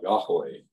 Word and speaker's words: Yahweh: periods of time and people forgot how to pronounce the name that had four consonants and no vowels y h w h and so people sort of made a guess as to how to pronounce it and the best guess that Scholars have come up with that obtains today is Yahweh used to be Jehovah uh now it's Yahweh but in any case